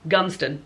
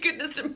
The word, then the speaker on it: Goodnestone: But I only recently found out from my work colleague yesterday that it's pronounced Gunston. So I've been saying Goodnestone Park for 2 years and it's Gunston.